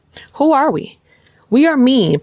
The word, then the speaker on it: MIIEN: We are MIIEN, pronounced MIIEN, like MEAN.